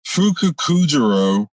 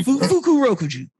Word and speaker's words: Fukurokuju: Fukukujiro or Fukurokujo. Yeah, Fukurokuju. Yeah, thank you.